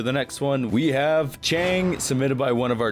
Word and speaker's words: Qiang: word I googled it Qi is pronounced CH in English so if Google is wrong then screw Google I did the best I could we have Chang a prototype wing coaster